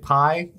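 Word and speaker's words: Pai: it's it's pii um I say Pi like sigh like the the weapon but I might be wrong there he is been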